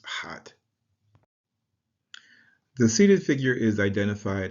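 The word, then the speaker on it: ḥꜣt: Just below that, we have the loaf of bread, the water jug, and the forearm of a lion, which is transliterated H-A-T and pronounced hot.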